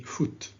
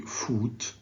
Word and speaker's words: foot: this is carbon footprint please say foot don't say food say football say put wood okay so it's a